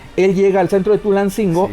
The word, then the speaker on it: Tulancingo: Ojo, no se llama Toyancingo. Se escribe Toyancingo, pero el náhuatl es como el inglés, no se pronuncia como se escribe.